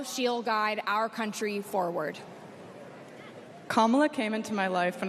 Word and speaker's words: Kamala: do you pronounce it first you say comma like a common sentence then you say la like la la la la la put it together and it's 1 2 three comma all right so let's